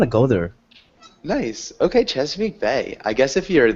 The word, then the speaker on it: Chesapeake: reading about this play probably I'm going to mispronounce it but it's like chees Peak ah Chesapeake Bay chap Bay yeah I I've been reading